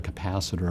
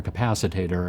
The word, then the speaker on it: capacitor: the way being self-taught I didn't know the pronunciations in the fourth grade I think I called a capacitor a capacitator or something like that but I